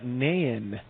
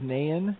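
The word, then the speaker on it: Náin: pronounce this guy exactly it's uh naen he is a dwarf and this is in a with the accent egg you above it and i and uh that that would be of glowing and owen and man type of dwarven pronunciation uh so he is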